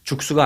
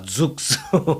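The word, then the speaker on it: Zoox: 죽스. 그니까 뭐 죽쓴다는 거 같아. 죽다라는 표현이 자꾸 생각이 나서 연상이 되는데 죽수가 아니라 죽습니다. 죽스.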